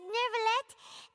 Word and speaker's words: Neuvillette: The E is silent, right? So it's just Neuvillette. No, is the T also silent? Is it Neuvillette? Feel free to correct me if I mispronounce anyone, because I probably do all the time. Sorry to barge in, Monsieur Neuvillette. We only lied to get in because we didn't know any other way. Okay, Paimon pronounces the T, so let's do that.